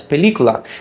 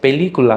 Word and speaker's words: película: I tend to pronounce it as película. That stressed vowel E I fully pronounce, but all the others are kind of less important, so I don't fully pronounce them. I reduce them. But to a native Spanish speaker, that sounds very foreign because they would fully pronounce every vowel, saying something like película.